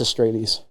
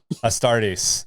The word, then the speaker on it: Astartes: It's pronounced It's Space Arbites. Marines. yeah, and they're also called Adeptus Astrades. Astartes.